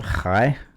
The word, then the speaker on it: chai: Well, Hi? high is 18. How do you spell that? 18, E-I-G-H-T. No, high. Is it pronounced hi? Yes, C-H-A-I. Hi.